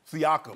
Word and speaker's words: Siakam: They, Sakiam, how do you say his name? Siakam.